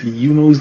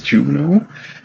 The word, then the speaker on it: Yuno: So for the times that I pronounce Yuno's name as Juno, yeah, just ignore all of that.